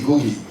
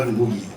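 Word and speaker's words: Ngũgĩ: It is a it is a historical fact that GooGi and I were talking about you'll notice I say googie um not boogie um that that's the proper pronunciation um and we were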